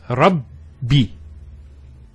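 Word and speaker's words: رَبِّ: The first ba takes a sukun, and the second takes a kasra. So it's Rabbi.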